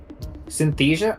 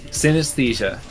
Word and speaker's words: synesthesia: Wait, what do you mean I lost a syllable? Synesthesia. What? Which syllable? Synthesia? Oh. You said synthesia twice. Oh no! Okay, thank you, plants. Synesthesia.